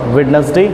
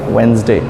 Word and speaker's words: Wednesday: तो या WEDNESDAY को हम वेडनेसडे नहीं बोलेंगे, हम बोलेंगे वेंसडे।